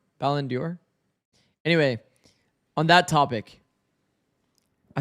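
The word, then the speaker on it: Ballon d'Or: And for the How do I pronounce it by the way? Is it Balon Ballendor? Ballendor.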